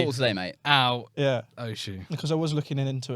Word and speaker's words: Oshu: Some people say like Oshu, and I'm like, no, it's Oshu.